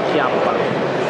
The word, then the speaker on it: Chiappa: In Italian, we say Chiappa. I've always said Chiappa.